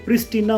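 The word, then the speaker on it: Pristina: लिखने में प्रिस्टीना आता है पर इसकी जो प्रोनाउंसिएशन है वो है प्रिस्टीना।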